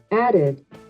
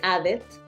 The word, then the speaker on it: added: d Si ves acuérdate si termina en d o si termina en t lo vas a pronunciar básicamente igual aded listo en este caso como termina en D added added tiende esa d